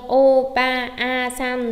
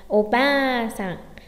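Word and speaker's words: おばあさん: O, ba, a, san đúng không? Chúng ta không đọc như vậy mà đọc là o, ba, sẵn, o, ba, sẵn.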